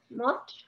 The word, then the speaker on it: মৎস: এটাকে বলে মৎস বলো মৎস মৎস ত টাকে একটু ধাক্কা দিয়ে বললে যেই প্রোনাউন্সিয়েশনটা আসে যে উচ্চারণটা আসে ওটাকে বলে মৎস তারপরে ইয়েটা হচ্ছে মৎস